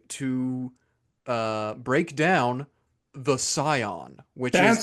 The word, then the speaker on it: Psion: I thought I thought you pronounced the P.